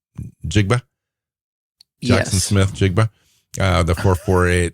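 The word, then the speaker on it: Njigba: How do you pronounce his last name? Jigba.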